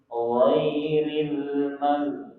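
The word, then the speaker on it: غَيْرِ: Ghairil bukan goi atau gai. Ghairil maghdubi 'alaihim. Ghairil maghdubi 'alaihim. Coba ulangi. Ghairil maghdubi.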